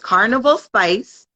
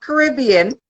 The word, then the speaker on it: Carnival Spice: in my head but it's Carnival spice not Caribbean and uh you will